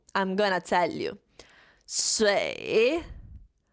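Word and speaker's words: 水: Shui. Shui. Be careful, it's a third tone. You have to pronounce it exactly how I pronounce it. Shui.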